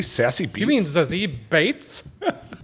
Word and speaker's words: Beetz: Zazzy doesn't know what they And then it's Bates like Beethoven. Bates.